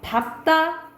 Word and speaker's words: 밟다: 이거는 사실 외워야 돼요 자 밟다 넓적하다 넓둥굴다는 비읍으로 바른다라고 보시면 됩니다 원칙은 뭐야 리을 바르면